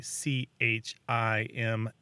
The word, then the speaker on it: chimley: That's pronunciation, the Chimley, and another one, Chimbly, Chimbly, are both really common in the United States, and they're often looked down upon. But from another perspective, they're these artifacts of immigration because they tend to pop up where Americans have roots from the north of England and Scotland, because that's where those pronunciations come from.